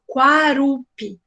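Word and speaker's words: Kuarup: Presta atenção como é que pronuncia. Quarupi.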